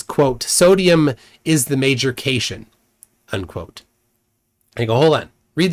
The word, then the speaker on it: cation: corrected him that cat c a t i o n is pronounced cat ion and that it's a